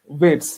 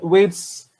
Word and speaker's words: vates: for a poet in the older usage was Vates, V-A-T-E-S, or Vates, however you want to pronounce it.